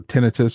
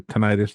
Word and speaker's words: tinnitus: particularly since I have was it tinnitus or tinnitus, depends on who you talk to and Yep. how they pronounce it.